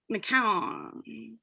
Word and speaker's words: McCown: by jessica and also i've been practicing your last name wrong mccown yeah like ice cream cone oh got it yeah